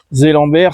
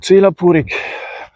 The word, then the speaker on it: Zellenberg: Je me dirige vers le village de Zellenberg. Zélambert, si je prononce à la française. Ou Zelapurik. Zelapurik en alsacien.